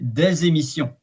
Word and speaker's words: des émissions: fluidity of the pronunciation, you link the consonant with the vowel of the next word. So you say des émissions, and then the S becomes a kind of a Z, des émissions.